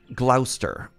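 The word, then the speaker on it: Gloucester: put something here gler rhymes with Foster I was on the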